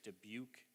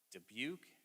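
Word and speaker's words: Dubuque: city near there is debuk Iowa debuk I can't even spell that yeah and and it it it doesn't even look like how it's pronounced either it's uh but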